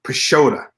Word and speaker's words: Pisciotta: Robin are the name Mike and Robin Pisciotta is how you pronounce their last name right I hit them